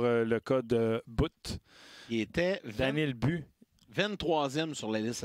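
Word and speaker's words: Daniil But: coyottes viennent de sélectionner Daniel But un russe ou Daniel Bu. Ouais Daniel Bu. Ouais mais ça s'écrit But là mais il semblerait qu'on prononce Daniel But.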